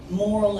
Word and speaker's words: Morrill: ha co and and my last name is pronounced moral as in good moral principles and I'd like to